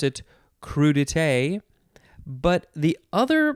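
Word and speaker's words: crudités: and it's also dite crudite but there's no emphasis on any syllable as far as i can tell it's just crew detail all the same emphasis anyway it is spelled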